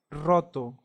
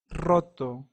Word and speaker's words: roto: but not the same so next we have the stronger sound which is our tongue vibrating so in this sound I know it's very difficult for English speaker to do this pronunciation but with a matter of practice and time you will eventually get it an example to this will be the word Roto Roto that means broken another example is the